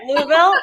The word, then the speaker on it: Louisville: versus the Louisville area which is how you pronounce that city like all right Louisville I got it right but they're rivals to